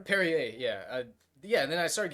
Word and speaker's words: Perrier: call the um no not Lacroix uh it's pronounced Perrier yeah yeah then I started getting into it